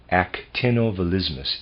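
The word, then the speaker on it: actinovolismus: I'll spell that. Actinovalismus.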